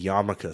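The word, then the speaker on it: yarmulke: Just like if you see Yamaka spelled out written Yarmak.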